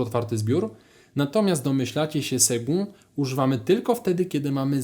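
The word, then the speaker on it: second: Nie czytamy tego przez K. Czytamy to tak samo jak słowa sekunda, czyli to czytamy jak G w środku, a więc seg sekund.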